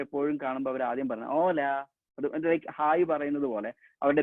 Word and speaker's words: hola: നമ്മൾ സ്പാനിഷിന്റെ ആൾക്കാർ പരസ്പരം എപ്പോഴും കാണുമ്പോൾ അവർ ആദ്യം പറഞ്ഞ ഓല, ലൈക്ക് ഹായ് പറയുന്നത് പോലെ അവരുടെ ബേസിക് ഗ്രീറ്റിംഗ്സ് ആണ് ഓല. ഓക്കെ, സോ ഓല, ഓയ്, ഓറ. സോ എച്ചിന് ഹ് സൗണ്ട് ഒരിക്കലും കൊടുക്കാൻ പാടില്ല. നെക്സ്റ്റ് വളരെ ഇൻട്രസ്റ്റിംഗ് ആയിട്ടുള്ള ജെ ആണ്.